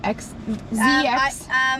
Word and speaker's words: Zzyzx: Zzyzx?